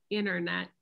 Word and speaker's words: internet: british english but um we often don't pronounce the t when it comes after the letter n like internet we just say internet and the t becomes silent but this isn't universal